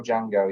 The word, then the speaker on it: Django: He's the original Django, yeah. So Franco Nero, the guy, so when he goes, how do you spell it? He goes, DJ. The D is silent.